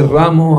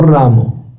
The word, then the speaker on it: Ram: La pronunciación correcta es Ram, Ram, no Ramo. No es la rama de un árbol, es Ram, Ram, la primera más larguita. Ram, Ram, y la segunda más chiquita.